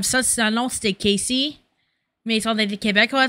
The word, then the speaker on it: Casey: She can't pronounce Casey because she's French, makes sense. So she's saying Cassie. But it's not, she's not trying to say Cassie.